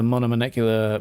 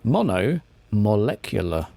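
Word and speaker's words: monomolecular: at least a monomial why do i keep putting an n in there that's like my throat keeps getting stuck mono molecular good lord sometimes english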